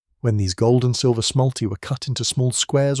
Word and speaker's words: smalti: Smalti, pronounced smalti, are small pieces of opaque glass enamel, specifically formulated for mosaics.